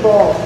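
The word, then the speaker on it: boule: I will be making the crusty bowl. The E is silent on that.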